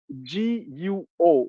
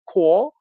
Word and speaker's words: Guo: His family name is Guo, G-U-O. Okay, but G in the Pinyin transliteration system is pronounced like a K in English. Okay, so it's Guo.